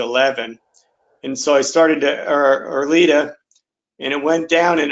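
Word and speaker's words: Erleada: So I stopped that, and they put me on, is it Erlita or Erliata?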